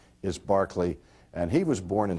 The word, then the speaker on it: Berkeley: the Anglican Church and his name was George Barkley is how it's pronounced oh I I never